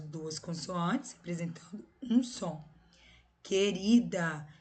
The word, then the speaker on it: querida: Querida. Vocês escutam o som do U? É querida? Não é, né?